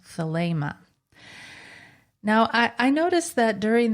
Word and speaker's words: Thelema: Now, I noticed that during the interview I say Thelema a lot, differently than Thomas, and I suppose there's a kind of unconscious Crowley thing going on, but I would say that Thomas's pronunciation is the correct one, and therefore in the future I'll do my best to say Thelema too.